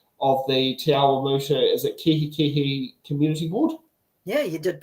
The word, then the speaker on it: Kihikihi: and Kihikihi subdivision of the Awamutu, is it Kihikihi Community Board? Yeah, you did pretty well. So Awamutu and Kihikihi, that's right on the money.